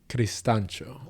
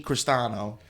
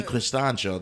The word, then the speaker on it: Cristancho: Cristancho. Okay. So I'm saying Jamie Cristano, and you're Jaime Cristancho this whole time.